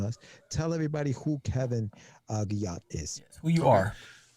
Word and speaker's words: Guillotte: It's Guillotte. Guillotte. Yes, Wow. very French, very mispronounced. Guillotte.